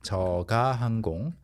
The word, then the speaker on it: 저가 항공: You are expecting to hear 저가 항공 versus you actually hear 저가 항공, okay? 저가 항공. And this is the correct pronunciation. 저가항공.